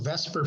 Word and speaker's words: VSEPR: V SPR or pronounced vesper for short stands for veence shell